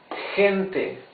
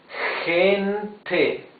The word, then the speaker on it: gente: Like in gente, you see it's a different sound of G. It's gente.